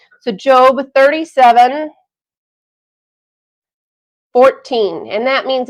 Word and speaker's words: Job: word job but because it's a name it's pronounced job so job 37 14 and that means it's chapter 37